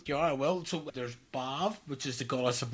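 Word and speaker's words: Badb: So that was that was so Baba, is it pronounced as Bab? Bav.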